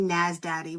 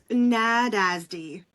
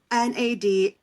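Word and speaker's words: Nádasdy: I want to say Nasdaddy, but that's not how it's pronounced. Nadasdy. Nadasdy.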